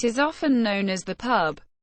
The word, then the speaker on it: PUB: To members and fans, it is often known as the pub, pronounced P-U-B, or simply the band.